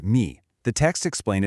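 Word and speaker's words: 迷: If we break down the Chinese character for delusion, pronounced mi, the text explains its etymology.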